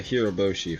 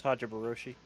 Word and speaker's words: Hajiroboshi: I'm working on the Hiroboshi from IBO. Hey, look, I finally said its name right. It's Hajiroboshi.